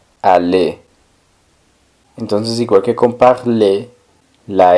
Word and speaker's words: parler: Hablar, como habíamos visto, es parler. Parler. La R del final no suena, solo suena la E.